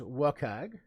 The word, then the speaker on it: WCAG: web content accessibility guidelines wcag pronounce the acronym as welcag 2.0 slash 2.1 2.1